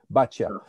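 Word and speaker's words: Baťa: B for for baa I pronounce it the Czech way baa for number of years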